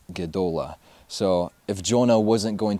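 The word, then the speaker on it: גְּדוֹלָה: hebrew word it's the hebrew word godola and national pronouncing right it's the hebrew word gedola so if jonah wasn't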